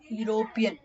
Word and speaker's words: European: university a uniform a european we are not telling e european is a silent word so we are starting it with you so that's why you're